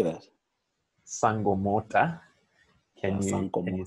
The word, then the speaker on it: Sankomota: a band called sankomota can you say that sangomota can you spell that for people s n-k-o-m-o-t-a now whenever the